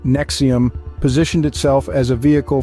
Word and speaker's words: NXIVM: development and absolute control ns4 M pronounced Nexium positioned itself as a